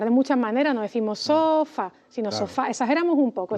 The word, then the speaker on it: sofá: Por ejemplo, si yo digo sofa, no, sofa, sí, sofa.